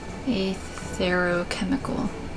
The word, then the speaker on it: Aetherochemical: the aetherochemical research facility a thorough chemical yeah that's how you pronounce it the aetherochemical research facility